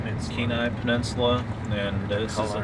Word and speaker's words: Kenai: am I saying it right yeah all right keenai Peninsula keenai Peninsula and this is an undisclosed Lake yeah